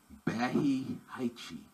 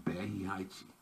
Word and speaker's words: Barry White: his name would be bahi haichi bahi haichi just paying attention to the way they pronounce their letters as opposed to us barry white becomes bahiaichi a little funny thing